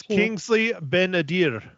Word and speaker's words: Kingsley Ben-Adir: It's Kingsley Ben-Adir. Ben-Adir. See, yeah, I had trouble. But it's pretty, but I just pronounce it wrong every time.